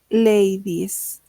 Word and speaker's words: ladies: Lady ladies. Party, lo mismo, ¿no? Party. Vamos a cambiar la y por la is parties. Si se dan cuenta, como que no pronuncio la e, ¿no?